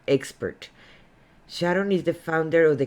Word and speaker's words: Sharón: my name it's pronounced sharon um like the song my mama my sharona without the a i'm sorry uh sharon